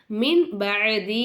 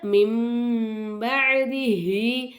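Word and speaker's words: مِنْ بَعْدِهِ: அப்போ நம்ம என்ன செய்யணும், இக்லாபுடைய எழுத்து வந்தனால நூனே சாக்கினை மீமா மாற்றி நம்ம உச்சரிக்கணும். அப்போது மின் பஅதி அப்படின்னு சொல்லாமல் மிம் பஅதிஹி அப்படின்னு நம்ம ஓதணும்.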